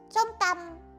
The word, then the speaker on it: som tam: Master, like it says some tam. T-A-M. Right there. T-A-M. Some tam. It's how to pronounce it, pretty sure.